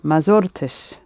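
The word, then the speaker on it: ما زرتش: And the same would be true of zort, I visited. Ma zortish, I didn't visit because you got r, t.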